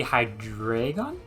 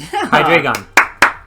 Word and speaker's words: Hydreigon: type has to be high drag on yeah high drag on that's how you say it trust me I